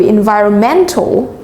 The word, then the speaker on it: environmental: Ví dụ như từ environmental, trọng âm của từ này là ở meant.